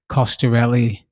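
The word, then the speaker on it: Coscarelli: that by the way i pronounced the director's name wrong for phantasm it's don costarelli caster really so just to get that right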